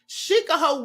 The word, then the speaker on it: Shikaho: the witch clan of Shikaho Woods. Okay, and they say that sounds like Chicago when you pronounce it Shikaho.